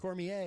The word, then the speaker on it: Cormier: how the correct pronunciation Cormier yes it's very French what's uh what's on